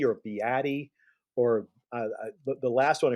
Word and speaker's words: Beatty: It's a two-syllable name.